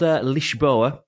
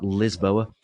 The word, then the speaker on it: Lisboa: know I've been to it's called leash boa we have to pronounce it in Portuguese weightless bro and not lisboa which is Portuguese for Lisbon which is the capital of Portugal no less and I've